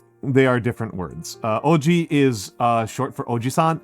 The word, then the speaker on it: oji: It's It's not uh They're pronounced the exact same way in English, but they are different words. They are different words. Uh, they are different words. Uh, oji is, uh, short for ojisan, which is just uncle.